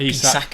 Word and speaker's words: Isak: Is that how you say it? Isak or Isaac? Isak, I think.